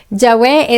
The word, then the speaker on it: Yahweh: Yahweh es la más cercana, es la más cercana, pero hay personas que se empeñan en Jehová, Jehová, que es algo que es una latinización posterior, o sea, es muy Yahweh, pero hay teorías interesantes.